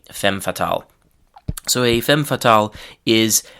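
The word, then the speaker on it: femme fatale: So the French pronunciation is fam fatal. In English we usually say fem fatal.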